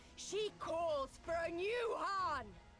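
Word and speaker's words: Khan: She calls for a new Han. Oh, the K is silent, not the H.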